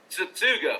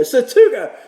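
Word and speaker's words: Tsutsugo: But with Meadows out and with, I can't say his name, you can. Say it for me one more time. Satsugo. There you go, Satsugo.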